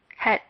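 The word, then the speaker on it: חית: Let's pronounce this one more time. Het.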